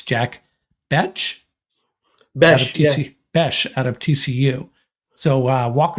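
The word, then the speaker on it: Bech: And we're deliberating how to pronounce his last name. We've decided it's Jack Besh out of TCU.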